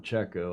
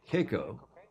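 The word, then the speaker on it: Checco: The streaming service, Keiko Bruni, some call him Checo. I heard Luca Devoti call him Keiko yesterday. I think that's the proper Italian pronunciation. Francesco Bruni, nicknamed Keiko, or Checo it looks like in English, with Jimmy Spithill.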